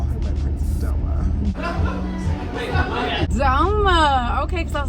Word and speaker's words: Doma: call her my Princess DOMA. DOMA. Okay, because I was like, wait, how do you pronounce that? I'm so effed up. I'm like Domo. Domo. Golly, the amount of times people have said Domo Right?